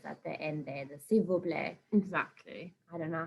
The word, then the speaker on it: s'il vous plaît: those lovely manners at the end there, the s'il vous plaît. Exactly. I don't know how, if I had to read that in English, I'd be like, sol vos plat.